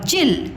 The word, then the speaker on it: चील: में छोटी की मात्रा च और ल चिल तो कौन सा राइट है बेटा चील ये पक्षी